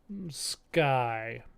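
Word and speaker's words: Skye: So is Sky like the name of the character spelled like S-K-Y-E? And so it's like Darkened Sky, the main character, whose name sounds like the sky but isn't.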